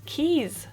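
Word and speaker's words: Quays: just sorry um but the next word is not pronounce k or qu this is Keys sir Keys like car keys but it's just spelled really weirdly but yeah the station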